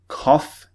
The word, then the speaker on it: cough: example laugh or cough kof is spelled c u g h so sometimes not always sometimes the GH spelling is pronounced with an F sound okay so keep that